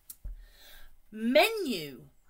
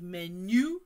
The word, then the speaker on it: menu: pronounce the H yogurt menu be careful with the stress the stress is at the start not at the end menu no menu menu again